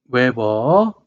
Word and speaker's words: 웨버: 애 므 로 표시하고 단위는 wb 외벌이 라고 읽습니다 웨버 자 여기 보면 요렇게